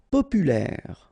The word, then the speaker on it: populaire: Populaire, final E not pronounced, so populaire, populaire.